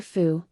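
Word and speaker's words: 福: fortune surrounding the character foo are five flying bats a bat foo is a visual pun for good fortune or happiness foo because both characters are pronounced the same and the right part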